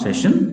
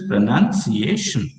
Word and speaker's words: pronunciation: pronunciation are getting it it's not pronounced session it is pronunciation got it so when